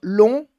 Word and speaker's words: long: Se não, seria long ou court, tá? Então, long, somente sem o final, sem a pronúncia do G, e court, sem o final da pronúncia do T, d'accord?